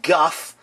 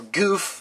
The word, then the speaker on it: Gouf: going to be reviewing the Guff or goof or gof however you want to pronounce it I pronounce it Guff from the mobile suit